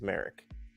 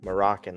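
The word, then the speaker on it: Marek: name is Galen Merrick his last name is Merrick and that's how they pronounce it in the Force Unleashed um they've been saying Moroccan this but um yeah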